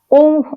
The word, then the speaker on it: ओम: ओम का उच्चारण करते समय ओ ओम जब हम आ बोलेंगे आ बोलते हुए धीरे-धीरे जब हमारा मुंह हो बंद होगा तो उ का उच्चारण होगा। फिर हमारा मुंह पूरा बंद होगा तो मा का उच्चारण होगा। जो हमारा मा का उच्चारण होगा वह हमारे कंठ से निकलेगा।